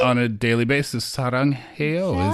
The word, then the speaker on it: 사랑해요: 사랑해요 is exactly how you say it in Korean.